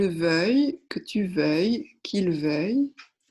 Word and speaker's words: veuille: Et enfin, le verbe vouloir, attention à la prononciation, que je veuille, que tu veuilles, qu'il veuille, que nous voulions, que vous vouliez, qu'il veuille.